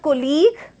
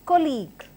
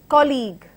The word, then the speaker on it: colleague: But the right pronunciation and the stress has to be at the first part of the word. Hence this word is pronounced as colleague, colleague, colleague.